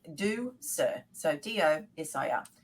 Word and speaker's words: Ducere: it's Latin for to lead and it's D do sir so do yes I am very simple uh way to pronounce it a very good friend of mine